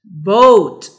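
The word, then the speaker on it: bought: Boat. Very good. GH is silent.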